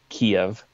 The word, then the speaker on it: Kyiv: You know, it's not like a bomb that you're going to drop on Kiev. Or Kyiv, excuse me. That's a Ukrainian pronunciation now.